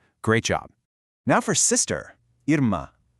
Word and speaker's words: irmã: "Irmã". Compare this phonetic spelling to the last one. Notice what's missing? That little W sound at the end is completely gone. Instead, it's an abrupt nasalized "ah" sound.